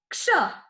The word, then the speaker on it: क्ष: इसका उच्चारण किस प्रकार करना है? क्ष। अब देखिए, इसका उच्चारण करते समय पहले का की आवाज आ रही है, बाद में शा की आवाज आ रही है।